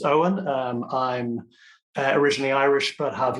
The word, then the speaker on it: Eoin: So, it's pronounced Eoin.